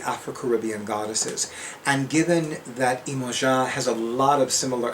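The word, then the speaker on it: Iemanjá: I used it with Imoja, which is how I love pronouncing Yamaya's name. And Imoja is how they say her name in Brazilian Portuguese.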